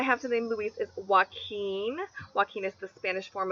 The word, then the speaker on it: Joaquin: good Louise alternative because they're both the two syllable names with a stress on the second syllable Luis Joaquin and they both have